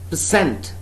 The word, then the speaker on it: percent: Person, person, percent. Person, first syllable is stressed, accented one, accented one. This next is percent, right? The first syllable of the next word, percent, first syllable is unaccented, all right?